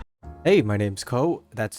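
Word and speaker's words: Kou: Hey, my name's Ko, that's spelled K-O-U, and this is That's Just Primed, Never Painted.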